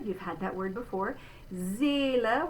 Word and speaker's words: Seele: Seele, we're going to say again a Z sound at the beginning. A, there's our closed E.